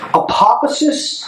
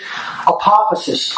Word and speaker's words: apophasis: So there's two inquiry methodologies, apophasis and cataphasis. Most people will never have heard of either of these terms, and that's okay. All right? Apophasis.